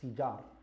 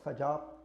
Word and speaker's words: Fijar: Harb al-Fijar is بفتح الفاء, it's fijar, not fajar, not fujar, but it's fijar, بفتح الفاء. So you make a kasra on the fa. And it's of the wazn of qital, fi'al. That's how you say it.